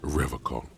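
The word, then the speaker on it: Revachol: pronounces Revacol with a hard K, unlike other people. I noticed that, rhetoric. Serious question time. This man is no innocent. No one is. You're right, Authority. You said revocol.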